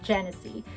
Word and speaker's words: Genicci: Europe for, because they make it for Genicci, pronounces it Genicci.